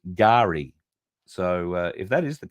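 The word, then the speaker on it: K'gari: her at all that it is meant to be pronounced Gary so if that is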